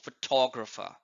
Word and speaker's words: photographer: here photograph and similarly in the word photographer the stress is on t o photographer and and photographic teacher